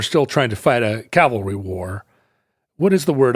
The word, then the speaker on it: cavalry: Is it cavalry or cavalry? Which is the right one in this context? I never get it right. What do you think it is? Horses, cavalry. Yes. And you said it right. And I think you always say it right and then you doubt yourself. Yeah. What you need is the courage of your convictions. And Calvary is the biblical hill.